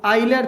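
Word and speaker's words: Euler: Therefore by आइलर theorem, कई आइलर बोलते हैं, कई यूलर बोलते हैं, कई यूलर बोलते हैं, जो आपने प्रोनाउंसिएशन बोलनी है वो बोल सकते हो।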